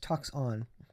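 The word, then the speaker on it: τόξον: It's pronounced toxon.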